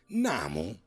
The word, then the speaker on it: Nam: The pronunciation of "nam" instead of "namu" arose from the continuous and quick recitation of Daimoku, therefore not, as the less informed mistakenly think, from a doctrinal error.